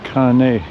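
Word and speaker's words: kāne: like the the uh the way they pronounce their letters is like the Italian language uh an i is pronounced e an e is pronounced a and an a is pronounced ah one more thing I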